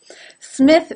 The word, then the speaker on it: Smith: other languages as well it's difficult to say any word that begins with an S without saying a vowel in front of it for example instead of Smith I sometimes hear as Smith now the S is